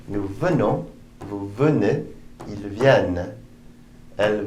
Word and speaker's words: viennent: Je viens, tu viens, il vient, nous venons, vous venez, ils viennent, elles viennent. Notice the ENT are not pronounced. They never are in the third person plural.